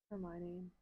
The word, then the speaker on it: Hermione: Hermione. Hermione. That's how it's spelled.